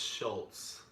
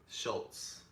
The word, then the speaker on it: Shultz: out of you my last name is pronounced Schultz Schultz thank you I